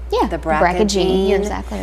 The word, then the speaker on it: BRCA: Another household word, but we don't always understand it, is, am I saying it right, BRCA? Yeah, the BRCA gene.